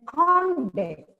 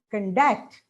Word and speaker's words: conduct: And the stress shift, say insult on in, and you pronounce it as insult when it is a noun. But as a verb, we pronounce it as insult, insult. And conduct as a noun. As a verb, it is conduct. Stress moves from the first call to that. Object is a noun, but object.